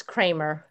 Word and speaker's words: Kramer: I'm in the United States, so it's Kramer.